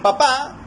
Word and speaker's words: papá: En papá nosotros vemos que la tilde se presenta al final, en la última sílaba, papá. Y en papa vemos que hay un acento, pero este no está presente, lo tenemos en la primera sílaba, ¿no?